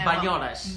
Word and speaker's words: Banyoles: Banyoles. Banyoles. B-A-Y, spell it.